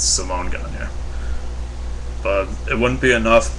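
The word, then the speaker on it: Simon Gagné: It's not Simon Gagne, it's Simone Gagne.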